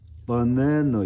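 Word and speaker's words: banana: 바나나도 버네너 이렇게 된다는 거야. 버네너 이렇게.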